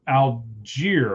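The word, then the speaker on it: Allgeier: Tyler Algier, I believe is how you say it, correct?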